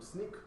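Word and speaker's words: Snyk: or, and I'm from SNEAK, which is short for So Now You Know. It is pronounced SNEAK as S-N-E-A-K.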